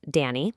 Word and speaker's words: Donnie: The main character, Donnie, and just a quick note, his name is pronounced Danny, like DNY.